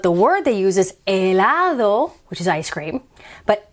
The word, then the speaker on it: helado: word they use is elado which is ice cream but elado you don't hear helado it's elado the h is silent i e i know